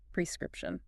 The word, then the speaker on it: prescription: prescription oh so the emphasis is on the first syllable yes and there are only three syllables not four got it prescription it's amazing how those